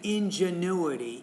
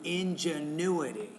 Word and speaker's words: ingenuity: The ingenuity of the Polynesians' aging population is, I would say ingenuity. So stress is on the U, ingenuity.